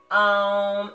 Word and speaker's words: Om: So it's actually kind of pronounced like A-U-M, Om, and remember the humming.